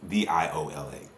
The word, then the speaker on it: Viola: with names but but it's VI is actually pronounced the way that spelled v i o l a that's Viola that's the the instrument but an